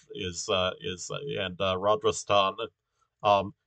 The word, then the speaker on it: Rajasthan: and uh rajasthan um you'll notice uh rogers ton has an h in it so uh you know that it's it's pronounced a bit differently from uh places ending in s-t-a-n that this is rodris ton um okay and uh